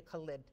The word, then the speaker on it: Khalid: We have many dentists and assistants and hygienists, and it's directed by Anita Khalid. The K is silent.